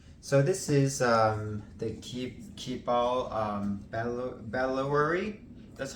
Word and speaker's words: Bandoulière: So this is the Keepall Bandoulière. That's how they pronounce it.